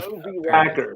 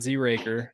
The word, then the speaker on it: Z-Racker: Z-Racker is what it like phonetically in my case. Racker, Z-Racker, not Z-Raker, not Enchino.